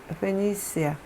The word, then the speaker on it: Phoenicia: Concerning Phoenicia, 이 두로가 페니시아의 수도거든요. 컨선이고 다시 무엇에 관하여. 페니시아 C 발음이고, 근데 우리나라 말로는 페니키아라고 써있고요.